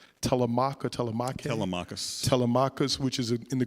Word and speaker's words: Telemachus: So the story you tell about Vesey, would you pronounce Telemach or Telemach? Telemachus.